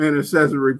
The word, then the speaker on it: intercessory: Now, I read that you have a gift of intercessory prayer.